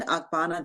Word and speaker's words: Ogbonna: And I am the host of EdUp Accreditation, but I am here taking some time off today to speak to Reuben Ogbonna II. Did I pronounce it correctly?